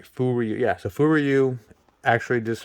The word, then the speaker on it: Furyu: Furyu, yeah.